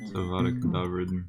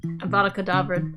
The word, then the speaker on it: Avada Kedavra: You think you just got Avada how do you pronounce that? Avada Kedavra. Avada Kedavra.